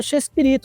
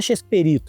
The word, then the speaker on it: Chespirito: Pô, xespirita é xespirito, não é xesperito. Ele não é perito de nada.